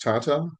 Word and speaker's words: Tata: Boeing, Lockheed Martin, and Northrop Grumman in the United States, in addition to, I believe it's pronounced Tata in India.